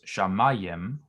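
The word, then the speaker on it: שמים: On a word in pause, a short vowel in the accented syllable lengthens to a long vowel. For example, shamayim becomes shamayim, or shamayim with the seluk there.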